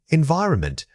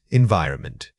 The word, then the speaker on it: environment: Wrong, environment. Right, environment. The most frequent mistake is missing the final n sound.